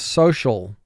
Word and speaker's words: social: this word so shawl so has two sounds s o shawl has three sounds sh ah oh the first step in